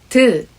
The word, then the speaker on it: ㄷ: It's not like the English alphabet T sound. I'm not sure if I will be able to explain how different they are, but let me try. When you pronounce the alphabet T, it is a hard T sound. D, D, D. But in Korean, 디귿 makes a soft sound. 드, 드, 드.